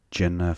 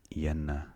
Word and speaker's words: jenna: Jenna for 40. Yenna. It's pronounced Yenna, actually. It's a South African word. The J pronounced as a Y.